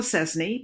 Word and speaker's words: Szczesny: name doctor was saying if the last name looks like blue Szczesny but it's pronounced the same rhymes with insane that will help you